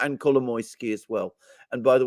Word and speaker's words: Kolomoisky: And Kolomoisky as well. And by the way, I pronounce his name in exactly the same way as you, and I'm sure that is the right way.